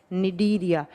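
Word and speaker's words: Cnidaria: दूसरा होता है निडीरिया। सी से लिखा जाएगा। प्रोनाउंस किया जाता है एन से।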